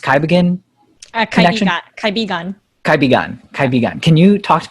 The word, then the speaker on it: Kaibigan: Talk to me a little bit about what you're doing now with, it's pronounced Kaibigan Connection? Kaibigan.